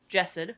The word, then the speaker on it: Jasad: I always want to say the Jasad heir because I'm an American lad, and so what can you do? But it's Jessid.